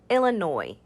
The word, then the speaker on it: Illinois: boise illinois illinois illinois the s at the end there is silent so we just say illinois illinois the capital of